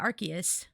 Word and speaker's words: Arceus: I think one of the movie dubs pronounced it Arceus. Like the word archaic. Yeah, Arceus.